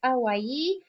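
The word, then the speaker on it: Hawaï: So remember that H is silent in French. So it's going to be more like Hawaii.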